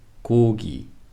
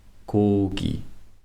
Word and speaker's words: 고기: For example, 고기. Notice how the 기역 in the first syllable sounds very close to K. And the 기역 in the second syllable has the clean G sound, not sounding like K. 고기.